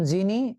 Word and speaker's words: যিনি: যেমন যিনি, এই যে যিনি বর্গীয় জ হয়ে গেছে, যেন, এই যে যেন বর্গীয় জ হয়ে গেছে।